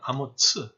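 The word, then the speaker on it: אמוץ: 우리말로는 똑같이 아모스로 되어 있지만은 히브리 말로는 스펠링이 달라요. 그래서 예언자 아모스는 아모스, 그 다음에 이사야의 아버지는 아모츠 이렇게 달리 불러요.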